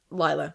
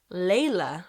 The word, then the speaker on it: Leila: Laya. Laya. I've said her name wrong for like six years.